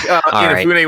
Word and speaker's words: Inafune: Oh wait, sorry, I'm not going to pronounce it. It's Akira Kitamura. Keiji Inafune. It's Inafune.